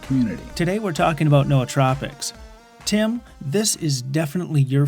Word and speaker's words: nootropics: nootropics I know that's wrong but the correct pronunciation is Noah tropics yeah I've done a lot of work with